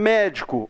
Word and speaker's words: médico: Por exemplo, médico. Onde que está a sílaba tônica de médico? No mé. Tem 3 sílabas. A última é o có, a penúltima é o di, a antepenúltima é o mé.